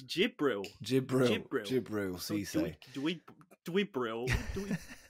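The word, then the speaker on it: Djibril: for dribial see say can you just pronounce his first name for me again dribial dribble that it's j it's jibril do we do we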